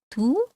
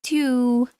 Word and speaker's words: tu: Don't ever say tu. It's not French. Tu.